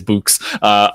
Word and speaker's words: Boox: I can never figure out how to pronounce that. I think it's Boox, the Onyx OS there,